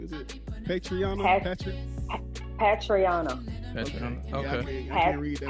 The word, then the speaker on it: Patrionna: Patrionna. Okay. I can't read that well. I'm sorry. Patrionna.